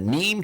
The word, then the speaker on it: neem: But what you're looking at there is the neem tree.